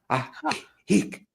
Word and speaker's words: Ajijic: So 2 J's, they're both silent. They're pronounced in Spanish as ha, Ajijic.